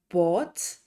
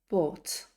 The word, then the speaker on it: bought: burnt burnt to buy listen for that silent GH again by bought bought to catch so remember